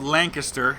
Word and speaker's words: Lancaster: by in Lancaster Pennsylvania and it is called Lancaster if you're from Pennsylvania you know this but